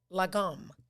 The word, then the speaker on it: lagom: Really, today's word is lagom. Lagom. I pronounced it right, just so you know. Not to be confused with legume.